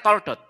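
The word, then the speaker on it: תולדות: wau sama sekali ini ini sama-sama dibacanya toldot jadi mau tahu W let W atau t wau let t maupun t lamet t itu dibacanya juga toldot saudara dan kata toldot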